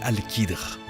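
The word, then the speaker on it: Al-Khidr: Et bien, l'histoire nous apprend que son nom est Alcadre, prononcé Alchidre et il était l'homme le plus savant durant cette période.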